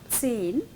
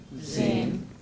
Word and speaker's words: zehn: zehn, Zehn. zehn. Zehn. So if you have this letter, the pronunciation has to be like this. Yeah, like we say tsunami, no? Tsunami.